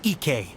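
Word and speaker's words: Ikkei: It's pronounced Kayabuki Ike.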